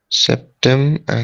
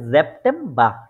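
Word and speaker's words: September: তারপরে আগস্ট আউগস্ট তারপরে সেপ্টেম্বর সেপ্টেম্ব এটা হচ্ছে জেপটে ঠিক আছে এজটাপটে এরকম জ এর মত উচ্চারিত হ্যাঁ হ্যাঁ জেপটে ওকে ফিলে জি আশরাফ ভাই আছে ইয়া জেপটে জি ভাইয়া আছে হ্যাঁ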